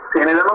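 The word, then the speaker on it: Sonoran: সেনেরানও তো বলে না, হ্যাঁ বললাম সেনেরান বলে তো মনে হয়। হ্যাঁ, সেনেরান তুমি উচ্চারণটা করতেই পারো, অ্যাকচুয়ালি সোনেরান, ঠিক আছে।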